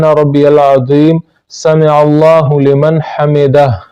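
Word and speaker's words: حمده: سمع اللہ لمن حمدہ، آخر میں یہ ہا ہے تو اس کو جنبش کے ساتھ پڑھنا چاہیے، آخر میں جو ہا ہے اس کی بو آنی چاہیے کم از کم، سمع اللہ لمن حمدہ نہیں پڑھنا چاہیے بلکہ سمع اللہ لمن حمدہ پڑھنا چاہیے تاکہ آخر میں ہا کی بو آ جائے۔ سبحان ربی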